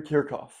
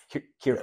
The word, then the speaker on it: Kirchhoff: Dude, like, it kind of sounds like jerk off. Like, it does, kind of. That's funny, no? Yep. Wait, it sounds like queer cough.